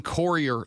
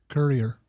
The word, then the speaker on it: Courier: Texture says, "You've got to stop pronouncing Corer like that. Like like co u corer courier crier courier tournament tournament sports